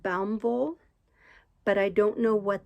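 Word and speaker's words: Baumwolle: that is it's b-a-u-m-w-o-l-l-e i think it's pronounced baum vol but i don't know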